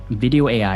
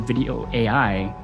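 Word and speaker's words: Vidyo: Well, there's a tool called Video AI, and I'll spell it out for you. It's called Video AI.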